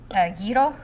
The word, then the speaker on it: gyro: They kind of remind me of gyro.